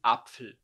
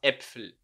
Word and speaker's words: Äpfel: Esse A com o trema. A gente fala die Äpfel, não die Apfel, tá? A gente fala Äpfel.